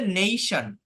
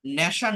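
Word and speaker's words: nation: এর বাংলা হচ্ছে মানে এর উচ্চারণ হচ্ছে নেইশন নেশন না নেই এটা হচ্ছে এই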